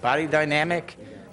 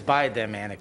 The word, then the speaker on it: Biodynamic: November 19th, there was a grand opening ceremony of Elysium Biod, how do you say that? Body Dynamic, but it's biodynamic, bio.